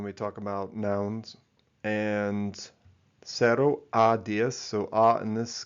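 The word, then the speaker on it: cero: So in most of central South America, Caribbean where Spanish is spoken, this is pronounced as sero. Okay. Sero. But in Spain, it's pronounced more with a th sound.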